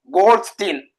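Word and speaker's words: Goldstein: இந்த நேர்கதிர் பரிசோதனை அல்லது கால்வாய் கதிர் பரிசோதனை செஞ்சதாண்டா யூஜின் கோல்ட்ஸ்டீன். சரியா? நீ கோல்ட்ஸ்டீன் மட்டும் படிச்சா காணுமா? சரியா? கோல்ட்ஸ்டீன். சரியா? அல்லது கோல்ட்ஸ்டைன். தமிழ் உச்சரிப்புகள் எப்படி வருமா? கோல்ட்ஸ்டீன் அல்லது கோல்ட்ஸ்டைன் அப்படி வரும். தமிழ் உச்சரிப்புகள் சின்ன சின்ன வித்தியாசத்தெல்லாம் வரும்.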